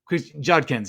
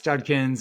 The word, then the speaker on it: Judkins: Judkins, yes, Judkins and Travion Henderson.